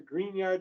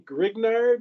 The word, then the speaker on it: Grignard: the green yard reaction or it says your green yard reagents and green yard reagents are often used